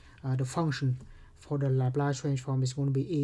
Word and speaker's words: Laplace: but we focus in our class only on laplace transform by the way it is pronounced laplace so laplace transform of a function